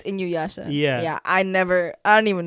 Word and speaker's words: Inuyasha: Inuyasha. Oh, it's Inyuyasha.